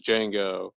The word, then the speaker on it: Django: what's your name and he goes Django and he's like the D is silent whatever that guy he's